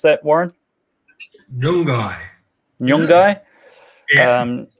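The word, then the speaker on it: Nyunggay: Warren Mundine is at, how do you pronounce that, Warren? Nyungai.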